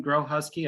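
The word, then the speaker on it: Grohusky: so my name is grow husky i tell people it's what you do in winter time you uh grow husky um because it is not pronounced like it's spelled but in case um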